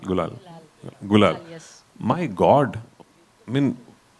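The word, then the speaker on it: Gulaal: Gulal. Gul Gulal.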